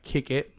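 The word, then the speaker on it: Kickett: to kicking and Company is spelled k-i-c-k-e-t-t like kick it so like kick it in company I'm trying to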